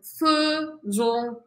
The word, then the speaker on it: faisons: Acá cambia todo, nous faisons, pero se escribe faisons, pero lo digo, faisons, vous, faites, ils font, elles font, y acá lo tenemos.